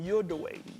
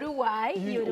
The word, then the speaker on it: Uruguay: Because you're originally from Uruguay. Yes. Did I say it right? Uruguay. Well, I was so off. Okay. You were close. You said Uruguay. Okay, Uruguay, right?